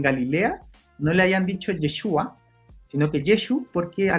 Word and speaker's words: Yeshua: ahora si entramos como en materia histórica, eh Yeshua es muy probable que en Galilea no le hayan dicho Yeshua, sino que Yeshu porque a los galos tenían